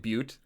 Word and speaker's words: Butte: And by the way, I thank you for pronouncing it Butte.